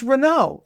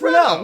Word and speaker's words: Renault: See, again, it's Renault. It's Rena. What's with your It's Renault. What's with What is with your pronunciation?